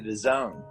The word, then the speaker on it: DAZN: We think we have a chance to maybe sell this to the Zone as a series because they really need content right now. I don't know if you know what the Zone is.